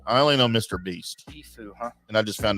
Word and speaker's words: Tfue: That's Tfue. Mhm. Like the band Tpow. Sounds like when you sneeze.